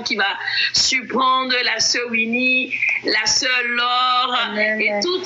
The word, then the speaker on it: Winnie: Winnie. Pardon? C'est Winnie. Oui, c'est Winnie. Winnie. Comment ça s'écrit?